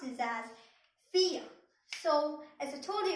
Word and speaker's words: vier: And then I told you that in German, V is pronounced as F.